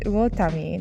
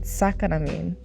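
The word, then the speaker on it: 魚民: And she said, "No, that's uotami, not sakanamin, uotami."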